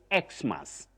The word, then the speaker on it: Xmas: And for everyone that is keen on knowing how to pronounce that word, you use two acceptable or alternative pronunciations. You can say Xmas, or you say Christmas. Both are acceptable, Betty.